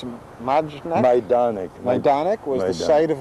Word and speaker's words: Majdanek: How would you pronounce it? Majdanek.